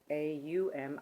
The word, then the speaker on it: Om: The actual breakdown of Om is A-U-M, Aum, and the M is actually done with an sound, but that's all right.